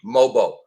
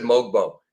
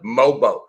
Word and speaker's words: Mogbo: Pardon me, Mobo. I said Mogbo. Got to take the G out. The G is silent. Mobo.